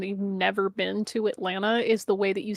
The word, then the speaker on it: Atlanta: If you say Atlanta with the hard T, we're like, yeah, you're not from here. Ah. It's Atlanta. Atlanta. That's how it's spread. Atlanna. Atlanta. That's how you say it.